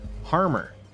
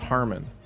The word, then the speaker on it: Harmer: I was saying your name wrong. Harmer, not Harmon.